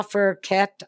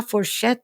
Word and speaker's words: fourchette: And he was speaking his French, which was La Fourquette and Le Couteau. And when I was at Coleraine, I was going, Daddy, that's not how you pronounce it. It's La Fourchette and La Couteau.